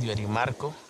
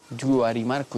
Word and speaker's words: Yuarimarco: Mi nombre es Yuarimarco. Yuarimarco, ¿y eso qué significa? Padre de la claridad. Es orgullosamente arhuaco, descendiente de los chibchas,